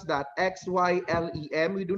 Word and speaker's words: xylem: just like the part of implant spelled as x y l e m how do we pronounce that x y l e m we do not pronounce that as silent we